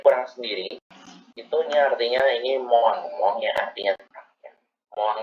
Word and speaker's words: moins: Sama untuk yang pengucapan dari kurang sendiri itu artinya ini moang ya artinya kurang ya.